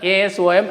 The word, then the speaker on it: Asom: What are the now, earlier it was ASSAM, Assam, children. Now it is Assam. It is changed, its name is changed now. It is pronounced as ASOM, Assam.